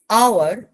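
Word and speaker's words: hour: যেমন এই কথাটা, যেমন এই কথাটা, তারপরে যেমন যেমন এই কথাটা, এই যে কথাগুলো, this is আওয়ার, এইচ is silent letter, so pronunciation হচ্ছে ও, তাই আমরা অ্যান বলি।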